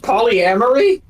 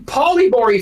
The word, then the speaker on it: polyamory: been involved with it wait it's pronounced polyamory yes I've been saying Poore for years no one's corrected me